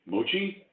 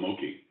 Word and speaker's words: Mochi: So after the Japanese rice candy ice cream, Mochi, we pronounced it wrong. We call him Moki.